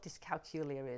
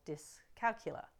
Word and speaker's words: dyscalculia: do you know what disc calcula is or dis calcular depends on how you say it I like